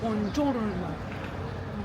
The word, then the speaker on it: Buongiorno: Buongiorno. Buongiorno diye günaydın diyoruz. Bonjour'a benziyor ama buongiorno.